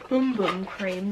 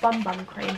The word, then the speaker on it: Bum Bum Cream: the same smell um apparently it's pronounced boom boom cream not bun bun cream but i say buttermilk